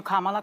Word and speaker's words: Kamala: Trump's fault Kamala and I'm calling you Kamala because for all of those who are mispronouncing it I want you all to know how to say it there you go but